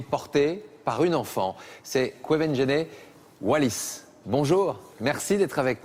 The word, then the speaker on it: Quvenzhané: On me dit comment tu le prononces? Comme... Quvenzhané.